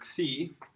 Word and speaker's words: xi: After nu, we have a really interesting letter, xi. This one is a bit confusing sometimes. This is the KSI sound, almost like an X.